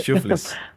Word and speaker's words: Shuflis: Shuflis, Shuffle shuflis, it. Wait, shuflis. It's like shuffle but shuflis. but with an X.